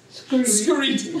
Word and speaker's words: skreet: One of the grammatical rules when speaking Gullah Geechee is that whenever there's an STR at the beginning of words, it's substituted with an SKR. So street would be pronounced as? Skreet.